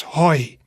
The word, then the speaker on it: hoi: So you pronounce that as hoi.